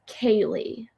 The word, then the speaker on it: Kaylee: So a lot of people are like never know how to pronounce my name, but it's Kaylee. Like I always say like e i g h like eight. Kaylee. Long A.